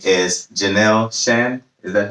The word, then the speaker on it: Jennelle: guest here with us today her name is janelle chan is that how you pronounce this yes okay yeah 28 hr professional